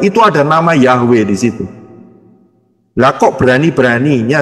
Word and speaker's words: Yahweh: dengarnya dengan aksara alfabet Ya mengucapnya jelas yaitu yahwe karena hurufnya adalah yob e waau he itu